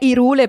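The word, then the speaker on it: Hyrule: Cool de sac Allora la pronuncia ufficiale è irule perché è stata decisa da Nintendo non è colpa mia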